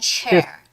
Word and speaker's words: chair: And chair. Chair. Okay, so Yes. when we are saying this pronunciation, when we're making the sounds for this pronunciation, it is really important to pull out your lips.